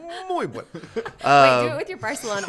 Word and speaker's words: Barcelona: it's a Z is pronounced as a TH or Okay. a C followed by an I or E. Yeah. So like the C in Barcelona is Barcelona.